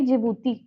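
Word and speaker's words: Djibouti: सब याद हो जाएगा डी साइलेंट है जिबूती बोलते हैं हम लोग डी से शुरू होती है इसीलिए यह हम चार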